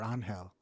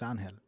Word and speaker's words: Angel: yeah it's funny because people always ask me is it angel or on hell and I always just say it depends depends what language you're speaking in Spanish it's Angel and in English it's angel I'm not gonna uh